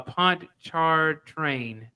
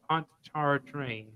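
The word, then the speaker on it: Pontchartrain: pronounce that uh she it's like pont it's called a pond char train that's what it's called pontar train uh she was the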